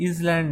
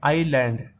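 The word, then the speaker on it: island: इस शब्द को पढ़ो, इसको बोलते हैं इजलैंड, नहीं इसको बोलेंगे आई लैंड। एस साइलेंट होता है, मतलब एस को हम नहीं पढ़ेंगे, क्या पढ़ेंगे? आई और लैंड, आईलैंड, ठीक है।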